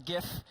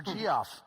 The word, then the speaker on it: GIF: This is GIF. If you look at the G, it's a hard G. There's only one G I've ever found in English that's a J, and that's giraffe.